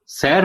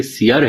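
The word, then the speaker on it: سِیَر: سیر الاولیاء پڑھتے ہیں، حالانکہ اس میں لفظ سیر نہیں ہے بلکہ سیر ہے، یعنی سین کے نیچے زیر اور یہ پر زبر.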